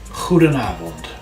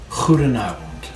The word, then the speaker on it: goedenavond: Goedenavond. Goedenavond.